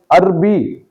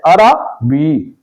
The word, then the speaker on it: عربی: زبر ہے، اکثر لوگ رے پر زبر پڑھنے کے بجائے جزم پڑھ دیتے ہیں تو یہ لفظ عربی بن جاتا ہے، تو عربی نہیں ہے، عربی درست تلفظ ہے۔ اسی اصول کے مطابق